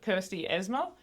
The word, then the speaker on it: Kersti Eesmaa: Today we've got Kirsty Esma.